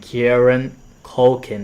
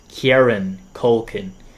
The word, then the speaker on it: Kieran Culkin: Incredible acting from Jesse Eisenberg and Kieran Culkin. That's how you say his name. I'm so sorry that I messed it up twice. Kieran Culkin.